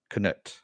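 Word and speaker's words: Cnut: word um but it's spelled con it's it's pronounced couldn't it knut yeah and he ended up becoming the ruler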